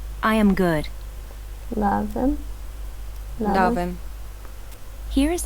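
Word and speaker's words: լավ եմ: Lavem.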